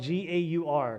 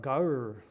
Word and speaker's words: gaur: It's spelled G-A-U-R, gaur, the gaur.